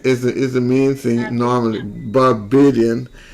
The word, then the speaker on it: Barbadian: Barbadian, like Canadian, Barbadian.